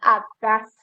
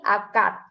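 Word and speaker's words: อากาศ: jadi t bunyinya gitu Jadi ini dibacanya bukan Akas tapi akad Kemudian untuk contoh Berikutnya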